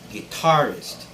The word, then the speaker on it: guitarist: word is guitarist guitarist this word has the stress on the second syllable tar so it's guitarist and not guitarist okay